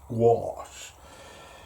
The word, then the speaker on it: gouache: a little bit of gouache or gach however you want to pronounce it it's entirely up to you I call it gash I was told once it's gach which I thought was a little bit